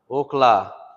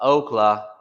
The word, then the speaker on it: okla: Okla, Okla, not Okla, like how people say Oklahoma, Oklahoma. It's Okla, Okla.